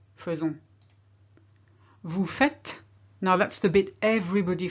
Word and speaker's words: faites: Vous faites. Now that's the bit everybody forgets. The amount of French people are here who say vous faisiez, and I'm thinking that's not correct. It's actually vous faites.